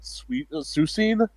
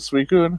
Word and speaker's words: Suicune: I have a friend who pronounced it Susine instead of Suicune.